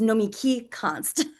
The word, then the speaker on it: Nomiki Konst: It's Nomiki Konst.